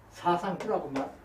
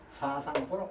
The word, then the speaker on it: 사상보: 잘못 배워서 그래 사상보는 사상부라고 발음하면 안 되고 사상보라고 발음해야 합니다.